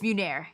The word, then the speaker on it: Munir: It's Munir. Munir. Three syllables. It's not that hard.